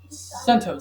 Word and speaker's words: CentOS: a derivative of Fedora CentOS spelled cent OS it's not pronounced that way it's centos remember CentOS is a